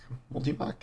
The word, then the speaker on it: Multimach: Tusk of the boar multimach multimach is how you pronounce it nightfalls wild style and